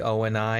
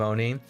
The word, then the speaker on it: ONI: of annoys me that they call it the O and I instead of Oni yeah I call it Oni because that's how Dr Hy in Halo Reach pronounced it so I remember that